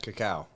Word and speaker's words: cacao: What's that cocoa? How do you say that? Cacao. Cacao. Very good.